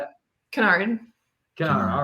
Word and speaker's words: Jasmine Kennard: Canard or kard how do you say it Canard Canard all right perfect I gotta write the